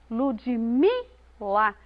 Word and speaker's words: Ludmila: uma palavra por exemplo no meu nome é Ludmila Ludmila o me é pronunciado com mais ênfase na palavra educação a